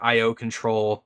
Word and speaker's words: ioctl: pronounced by octal yeah I've heard it said like I O control um ioctl I just find ioctal a lot easier to say so that's why I say it like that but yeah I